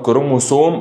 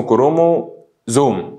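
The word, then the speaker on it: chromosome: بالمناسبة انا هقعد اقول كروموسوم او كروموزوم، يعني هو بالانجلش اسمه كرومو زوم. ليه بقى؟ عشان الاس لما تقع بين اثنين متحرك بتتنطق ذا، خلاص كده. فهي كروموسوم ده بالعربي، لكن بالانجليزي كروموزوم.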